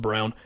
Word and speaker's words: Braun: his last name looks like Braun but it's pronounced Brown kind of a dream pick if you're Denver